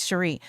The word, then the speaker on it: Cheri: And you know, I get called and Cherry and other things besides Sheree.